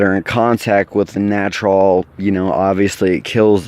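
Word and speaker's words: Gnatrol: to control that is a product called natural it's spelled jee-in a TR o l natural and it is basically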